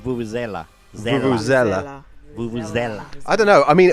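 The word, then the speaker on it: vuvuzela: should oh man so let's get the pronunciation right because you're saying zela what is it it's very british of you but it's vulvazella i don't know i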